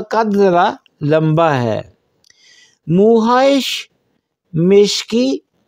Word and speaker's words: مشکی: مشک سے نسبت دیتے ہوئے اس کو ہم مشکی تلفظ کیا جاتا ہے۔ سو مشکی سے مراد ہے